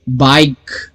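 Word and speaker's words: bike: Okay, बाइक, बी का letter pronounce किया है आई और के, बाइक, ई को प्रोनाउंस नहीं किया, ई साइलेंट है लेकिन लिखना जरूरी है, बाइक।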